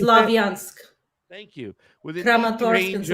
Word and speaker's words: Slavyansk: It places larger cities of Kramatorsk and Sloveniansk. Kramatorsk and How do you say it? Slavyansk.